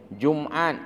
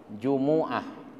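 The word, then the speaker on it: Jumu'ah: jumuat Jumat bahasa ah Jumat bahasa Indonesia tapi sesungguhnya dalam bahasa Arabnya yang asli bahasa Alquran itu mimnya dihidupkan Jumuah jadi Yaumil Jumuah bacanya dan begitulah yang benar bukan khilafiah bukan nanti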